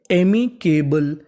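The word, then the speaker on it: amicable: CAKBLE, BLE को हम लोग इंग्लिश में पढ़ते हैं बल, यानी आपको इंग्लिश में कहीं पर BLE लिखा मिले तो आपको BLE का उच्चारण करना है बल, तो मीनिंग बनी एमिकेबल, एमिकेबल।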